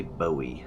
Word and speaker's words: Bowie: I would say Bowie, like David Bowie.